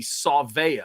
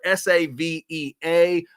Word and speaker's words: Savea: Last name's pretty easy, Savea. It's spelled S-A-V-E-A, but Savea is the way I've seen it, and I kind of like the idea of putting the saw in there, Savea.